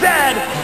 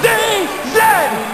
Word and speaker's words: Z: And it is pronounced Z, not Z.